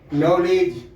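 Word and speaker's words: knowledge: ई डी जी ई नॉलेज का spelling होता है नॉलेज के नहीं बोलते हैं के एओड नलेज के एओड के एन एक साथ रहेगा तो के का उच्चारण नहीं होगा फिर बताते हैं समझ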